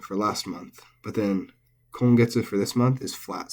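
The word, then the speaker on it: 今月: last month, but then kongetsu for this month is flat. So sengetsu for last month is atamadaka, first high, or initial high. Kongetsu is flat, and then daigetsu for next month is atamadaka, accented.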